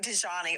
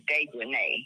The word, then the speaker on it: Dejanay: It looks like Dejani or Dejanay. Her name is Dejanay. Yeah, that's it. It's Dejanay because it's got A-E on the end.